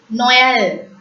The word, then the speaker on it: Noël: When you pronounce E with the trema, it's also pronounced as A. Noël. Noël is nothing but Christmas in French. Noël.